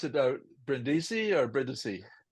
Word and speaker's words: Brindisi: So do you pronounce it Brindisi or Brindisi? Brindisi, Brindisi.